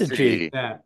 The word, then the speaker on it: syzygy: Syzygy.